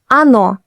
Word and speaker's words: оно: Он is stressed on the o, on. But in она, оно, они, the first O is unstressed, so it sounds like а.